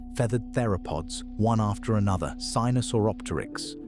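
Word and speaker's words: Sinosauropteryx: Sinusauropteryx, pronounced si-no-saw-op-ter-ix, Caudipteryx, Microraptor, a small dromaeosaur with four wings.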